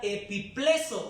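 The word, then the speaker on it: ἐπιπλήσσω: La palabra reprender aquí en en el idioma original se pronuncia epipleso con doble s.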